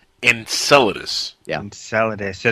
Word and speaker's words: Enceladus: say it so don't feel bad well it's pronounced Enceladus Enceladus yeah I'm salad ace so that to buscher